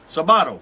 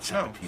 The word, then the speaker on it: Sabato: Actually, Italians say Sabato. Americans say Sabato. Sabatino. No, not Sabatino. No, it's not Sabatino.